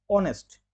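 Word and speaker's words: honest: यहां पर देखेंगे कि एच से शुरू हो रहा है और एच क्या है कंसोनेंट है लेकिन कंसोनेंट देख के क्या हम ए लगा द नहीं हम इसका उच्चारण करें उच्चारण जब हम कर रहे हैं तो हम पा रहे ऑनेस्ट इसका उच्चारण ओ ऑनेस्ट से हो रहा है तो यह एक स्वर है तो इसीलिए एन एन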